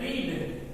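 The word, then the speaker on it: read: रीड, रीड का तीनों form रीड ही होता है। हालांकि प्रोनाउंसिएशन इसका हम लोग अलग करते हैं। ये रीड है, पढ़ेंगे रेड, रीड रेड रेड, लेकिन लिखते रीड ही हैं।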